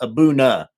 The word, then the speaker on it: A'bunadh: a buna that like the D in the H are silent abouna I believe I believe well when